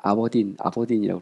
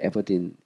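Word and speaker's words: Aberdeen: 영국에서 그 에버딘 대학교, 영국식으로는 아버딘이라고 그러는데 미국식 발음으로 에버딘, 유니버시티 오브 에버딘에서 박사를 했습니다.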